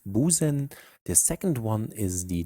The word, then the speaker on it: Busen: The first one is the regular S, it's pronounced Busen.